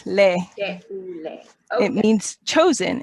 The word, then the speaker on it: Teule: time in Kenya, serving alongside her husband in Teule, Kenya, a registered NGO that serves orphaned and vulnerable children. Correct me again, what was the pronunciation there? It's Teule. Teule.